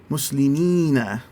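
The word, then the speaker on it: مسلمين: And when you make that long e sound at the end, you kind of almost smiling. It's muslimina. And that helps to extend that and get that correct sound there.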